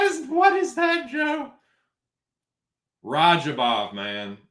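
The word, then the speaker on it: Radzhabov: Rajabov, man. It's Rajabov. Ja, you pronounce that Rajabov, brother.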